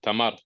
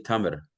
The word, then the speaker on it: Tamar: he was Arab, uh, was Tamar, like Date. just like a date. Yeah, Tamar. I think they say Tamer. I think they pronounce it a little Tamar, differently. maybe. Yeah, Tamar. Yeah. Tamer, yeah, yeah.